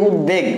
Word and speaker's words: উদ্বেগ: উদ্বেগ, হ্যাঁ, আমাদের যদি একদম ভাঙায় বলি তাহলে উদ্বেগ, দেখো বটা আছে, বফলাটা আছে, বাকি যেগুলো আছে বাকি হলো বিধ্বস্ত, বিধ্বস্ত ভয়ের উচ্চারণ একদম উজ্জ্ব হয়ে গেছে।